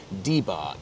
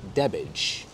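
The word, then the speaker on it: Debach: blowing a gale today the pronunciation of debac was always a problem for and I'm quoting the uninitiated Americans who invariably referred to it as debark however locals have always pronounced it as debbage this was actually 1944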